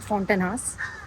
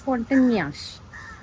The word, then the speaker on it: Fontainhas: It's not Fontainhas. It's Fontainhas. Something, somewhere close to that pronunciation. It's a Portuguese word.